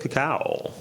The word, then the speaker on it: cacao: um Catalyst and 100 cacao I had to say like a cow yeah I'm glad you said it right some people do not